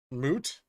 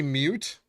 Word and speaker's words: moot: typo they said it I have a co-worker that says mute point moot they say mute like that's a mute point oh it's moot not moo photogenic memory eidetic foreign